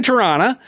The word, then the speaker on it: Toronto: okay so you're in Toronto uh you know the last tea is silent right um uh so Le